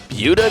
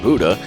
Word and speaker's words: Buda: street back to life buda texas sometimes mispronounced buddha is an unassuming nook